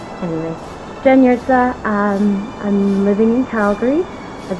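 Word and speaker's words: Jurca: I'm married now, so my last name is Yurtsa, although it's not spelled like it's pronounced. It's spelled J-U-R-C-A. Brilliant plan, hard J, soft J. Anyway, Jen Yurtsa.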